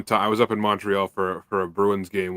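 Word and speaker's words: Montréal: if you're not most people will say Montreal and it's just like that no it's Montreal it's Montreal like a u instead of an O if you're from here that's how you say Montreal how do you say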